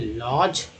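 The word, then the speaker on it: lodge: DG में D silent है, लॉज।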